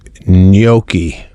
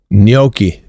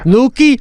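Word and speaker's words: gnocchi: Noi. You're giving it like a little bit of a Y. Can't you just go silent totally on the G?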